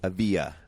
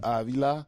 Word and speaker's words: Avila: one knows my name it's not even a via it's avila villa you say the l yeah it's a nail it's just one i thought it was a silent l no no no no that's only if there's two yeah there's only one well american war hero